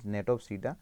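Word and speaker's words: Gnetopsida: G is silent, let us say over here, Natopsida.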